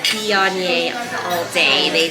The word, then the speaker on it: Viognier: And she said, Viognier all day.